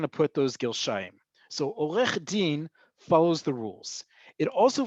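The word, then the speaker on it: עורך דין: news or on TV, they're going to say Olech Din. They're not going to say od.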